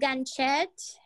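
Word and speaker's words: Ganxxet: It's called Ganchette, and it's in the Bear Road district. And it's spelled GANXXENT.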